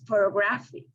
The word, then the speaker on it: photography: it's four hours and in the last one is located in the third syllable because photography it is important to